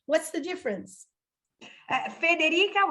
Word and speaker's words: Federica: Federica without the R is Italian or maybe even Spanish. Frederica is more like Anglo-Saxon, like way to pronounce and to have like the name. I suppose that the name is from Denmark, I think comes from there. So but then in Italy it became.